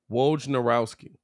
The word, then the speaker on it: Wojnarowski: How do you actually say is Wojnarowski? Is Wojnarowski? Wojnarowski. All right. Anyway, it's spelled like it sounds like it's spelled Wojnarowski.